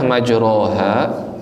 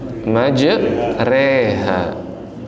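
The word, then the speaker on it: مجريها: memiringkan fathah pada kasr tulisannya majroha dibacanya maj reha majreha ya kita merajaah ya Bismillahirrahmanirrahim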